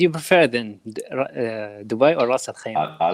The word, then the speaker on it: Ras Al Khaimah: I'm impressed that you pronounce it like Arab people pronounce it, Ras Al Khaimah, not Ras Al Khaimah.